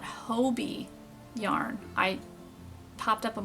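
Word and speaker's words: Hobbii: that um I just found out how to pronounce it it's called Hobie yarn I popped up on my Instagram and of how to pronounce I'm sure you a lot of seen the hobby yarn well they it's actually pronounced Hobie so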